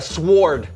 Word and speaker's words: sword: Okay, I'm gonna go with a sword. Okay, the W is silent.